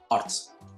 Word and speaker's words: arts: Porque, si se dan cuenta, la decimos en una sola sílaba. Es una sola, arts. Quiere decir, vuelvo a repetir, que la R, la T y la S la están cortando a la A.